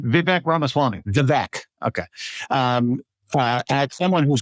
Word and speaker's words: Vivek Ramaswamy: When I heard yesterday that he asked Elon Musk and how do I pronounce the other guy's first name? Vivek Ramaswamy.